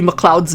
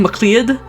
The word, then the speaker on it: Mloud: been mispronouncing Ivy Ivy Mloud's name. I've been saying Mlead. It's Mloud. And I only realized that